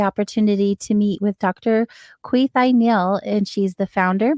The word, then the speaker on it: Kweethai: And my name is pronounced as Kwe with a long E, tie around your neck. Beautiful. Kweethai.